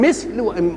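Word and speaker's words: مَثَل: وسكون الثاء مش كده ومثل بفتح الميم وفتح الثاء يبقى ايه الفرق بين مثل ومثل المثل هو المشابه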